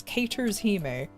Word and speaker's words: Caters Hime: But yeah, I know the official name, the actual real way to say her name is Caters Hime. Because it's supposed to be like, you know, like a catering company and everything.